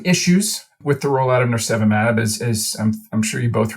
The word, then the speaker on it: nirsevimab: When we last had you on, it was to talk about nirsevimab. Did I pronounce that right this year?